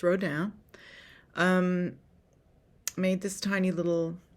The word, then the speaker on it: Rodin: anyway wrote down it's it's r-o-d-i-n Maybe Might pronounce it Rhoden but it's pronounced row down um made this tiny little figurine and I